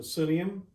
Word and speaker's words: psyllium: And he put me onto psyllium. That's spelled P-S-Y-L-L-I-U-M.